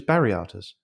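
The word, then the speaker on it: Viriathus: So, side note on this Viriatus, the people of the town from which Viriatus originated apparently pronounce all V's as B's or the other way around, as sort of homage to their man Viriatus. So he was Bariatus.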